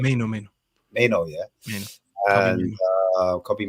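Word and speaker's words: Mainoo: Is it Maino or Mano? How do you say his name? Maino.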